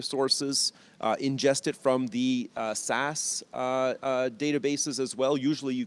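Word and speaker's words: SaaS: a service platform now you know how SAS software as a service is pronounced SAS so it kind of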